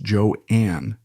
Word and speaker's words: Joan: her as Joan Crawford she intended it to be pronounced joeanne privately she often went